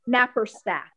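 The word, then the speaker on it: Naparstek: It's N like in Nancy, A, P like in Peter, A, R, S like in Sam, T like in Tom, E, K, Napperstack.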